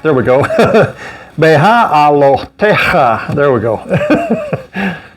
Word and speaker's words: Behaalotecha: Behaalotecha. There we go. So it's a bunch of syllables there in long order there. It's got 1, 2, 3, 4, 5. It's got 6 syllables in it.